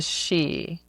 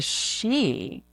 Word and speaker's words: Sidhe: was Googling something and up came SIDHE. And it said the she. Showed the pronunciation. I'm like, the she.